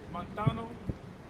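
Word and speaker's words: μανθάνω: That word learn in the Greek is montano. That's how you say it in the Greek there.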